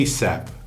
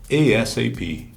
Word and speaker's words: ASAP: Ela tem 2 pronúncias. A primeira é ASAP. Você meio que lê ela por inteiro. ASAP. Call me back. ASAP. Ou então ela pode aparecer soletrada. ASAP.